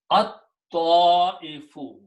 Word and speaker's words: at-ta'ifu: But when you read them together, this ta will kill the sound of lam, and it will become at-ta'ifu. At, lam will go away, so we'll just write down lam, but no harakat. Ta will become pronounced twice, so put a shadda. At, ta, e, fu. Okay. Now this is a hamza. This hamza will force this alif to be pronounced with a mad. So the final word is at-ta'ifu.